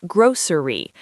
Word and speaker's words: grocery: This one is tricky. In American English, it's often said as grocery, 3 syllables, grocery store.